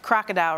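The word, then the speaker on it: krokodil: even believe this name it's called crocodile but it's spelled with a K crocodile right two k two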